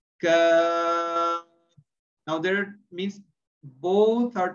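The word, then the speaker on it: كاف: Now, while pronouncing this kaf, we are supposed to pronounce from the means lowest part of the tongue, but we are not going to use the force to touch the roof of the mouth, but now we will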